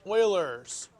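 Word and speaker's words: Euler: tomorrow you're going to be okay no you Oilers formula this dude's name looks like ERS but it's actually pronounced Oilers okay and this is his formula apparently I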